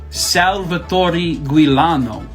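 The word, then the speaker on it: Salvatore Giuliano: so who did this this fella right here Salvatore guilano I looked it up how to say his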